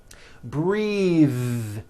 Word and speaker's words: breathe: suit breathe same thing breath is a noun take a breath unvoiced but when you change it into a verb the vowel changes and it becomes breathe I am breath breathing with a voiced th now let's do some